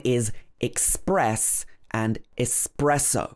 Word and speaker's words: espresso: This is another one that I often get wrong. This is a type of coffee that comes from Italy, but in English we normally say espresso. But I often say espresso because it looks quite similar to express, so it's easy to get confused.